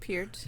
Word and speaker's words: Peart: Say it correctly, Neil Peart. Neil Peart. Peart. It's how you say it in because Canadian.